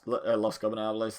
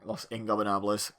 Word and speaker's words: Los Ingobernables: and doing the chant along with the Ingobernables, Los Gobernables thing, Los Ingobernables.